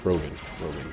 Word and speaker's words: Rogan: Joe Rogan, not Reagan, he's not former president.